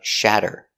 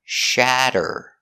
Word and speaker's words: shatter: of shatter pronunciation of shatter sh we change the t to a d because it's between vowels so shad shad a fasty shad er shatter shatter shatter if you drop your